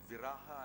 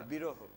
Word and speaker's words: viraha: There's also a feeling of what you call viraha. Am I pronouncing it correctly? Viraha, yeah. Viraha. Or biroho. Viraha.